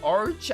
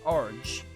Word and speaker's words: Arge: I think you say Arge for this word. It was in Cold Steel. I'm pretty sure you pronounce it Arge. It's like their metric unit or whatever. Maybe 10 to 15 Arge in size. I don't think it's Arg.